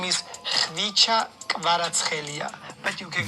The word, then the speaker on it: Khvicha Kvaratskhelia: Khvicha Kvaratskhelia. What is the weirdest? Watch me try. Kvaratskhelia. No, that's not how you say it. My name is Khvicha Kvaratskhelia, but you can call me Kvara.